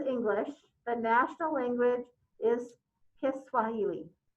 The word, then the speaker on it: Kiswahili: the national language is kiswahili i hope i'm pronouncing that usually i just hear it's called swahili's but so there's a little there's an extra part to it so i'm hoping i'm pronouncing it right all right so were